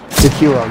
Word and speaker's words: Sekiro: It's Sekiro, I believe it's pronounced that way. Sekiro, yeah, that's right though.